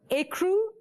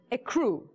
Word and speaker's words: ecru: Your first word to spell is for 5 points, and that word is, there are two pronunciations, ecru and ecru.